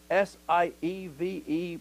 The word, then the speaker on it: SIEVE: for statistical data modeling, abbreviated SIEVE, pronounced sieve.